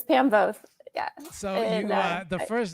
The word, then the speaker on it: Voth: Yeah, it rhymes with growth, not moth. So it's Pam Voth.